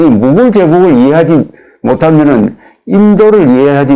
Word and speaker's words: 무굴: 여러분 제가 학교에 다닐 때는 무갈 제국이라고 배웠는데 요새 발음을 무굴 제국이라고 합니다.